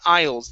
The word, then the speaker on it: aisles: okay we saw three aisles the s in the middle there is silent we saw three aisles